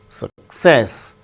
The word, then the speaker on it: success: be acted as teacher success with stress on second syllable success recommend third syllable gain